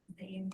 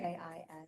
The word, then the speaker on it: Zain: Man, what was the name of the second owner or second member of the Zane Dawood, Zain? How do you, Zain. okay.